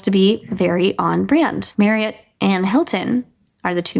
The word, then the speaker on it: Marriott: So it's pronounced Marriott, like chariot, not Marriott.